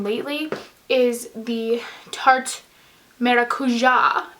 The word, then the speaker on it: Maracuja: is the a tarte maracuja as my friend told me that it is pronounced because it's Brazilian and she's Brazilian so